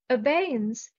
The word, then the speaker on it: abeyance: eight support and courage abanese the stress is on the second syllable obeying obeyance is a temporary suspension